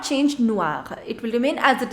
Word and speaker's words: noir: Black is noir, noir.